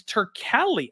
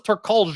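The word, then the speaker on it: Turkalj: name so badly Keith it's turkali I thought it was tercolge or something like that until thank God John Adam got in there and taught me how to say this guy's name uh turkey had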